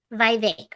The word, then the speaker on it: Vivek: mistake though by vague Vivek rhymes with cake I'm probably gonna say